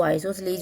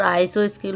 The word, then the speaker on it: isosceles: तो आइसोसेलीज होता है, बट हम मोस्टली यहाँ पर आइसो स्केल बोलते आ रहे हैं और हमने अभी तक यही पढ़ा होगा। लेकिन अभी अगर हम देखें तो करेक्ट जो प्रोनाउंसिएशन है इसका वो आइसोसेलेज होता है।